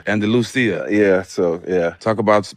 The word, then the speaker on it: Andalusia: It's Andalusia. Andalusia.